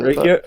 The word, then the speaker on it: Rakia: I don't know how to pronounce it. Rakia? Rakia.